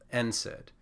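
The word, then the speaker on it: NSAID: the D you get n said so it's pronounced for the first letter n and then we just say the word said if you really want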